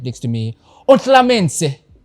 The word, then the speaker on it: Ontlametse: Ontlametse. Am I saying it right, man? Ontlametse. Ontlametse. Ontlametse. There's no N.